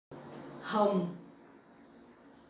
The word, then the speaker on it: Hồng: Hồng, hồng, hồng. So if you can shape your mouth like that, I think it'll be easier for you to pronounce Vietnamese.